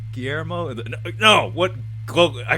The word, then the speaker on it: Guillermo: it i'm just saying guelermo would do it hey he would pronounce it you mean you mean guillermo no what glo i